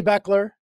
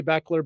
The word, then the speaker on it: Bechler: than Jamie and uh my last name is not spelled the way it's pronounced so I'm always getting my name butchered a little bit but Jamie Beckler but my dad my